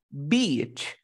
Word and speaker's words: beach: Playa tiene como símbolo fonético la I. ¿Cómo sería? Beach. Pero tienes que hacerlo larguito. Beach.